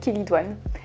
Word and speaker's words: chélidoine: Quand on parle des verrues, il y a une plante qui revient toujours, c'est la chélidoine ou chélidoine, enfin ça s'écrit chélidoine mais ça se dit chélidoine.